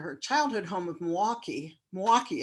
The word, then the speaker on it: Milwaukee: Milwaukee is how it's said, like two syllables, Milwaukee, Wisconsin, to act as the UU the Vote Wisconsin lead organizer.